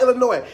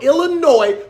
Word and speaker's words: Illinois: Number 1, nobody from Illinois pronounces Illinois, Illinois. There is an entire letter at the end of the state's name.